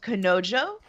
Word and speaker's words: Kanojo: It's called Kanojo, I think, is how you say it. Correct.